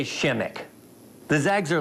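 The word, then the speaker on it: Przemek: of consonants in it the P is silent the r is silent disease it's all silent just say Shimek those eggs are like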